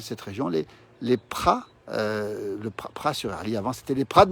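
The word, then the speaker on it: Praz-sur-Arly: Et Maryse nous dit qu'elle a passé de bonnes vacances à Pras-sur-Arly, où nous sommes, en Savoyard. On ne prononce pas le Z d'abord, on ne dit pas Pras évidemment.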